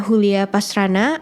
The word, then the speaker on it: Julia Pastrana: dan selamat mendengarkan ceritaku Julia pastrana atau dibacanya hulia pastrana atau Yulia pasastrana Nah dia tuu lahir di